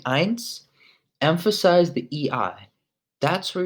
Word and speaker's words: eins: remember when you're saying eins emphasize the EEI that's where you're that's the strong part of this word the NS is it's much lighter but the e is strong so pints now number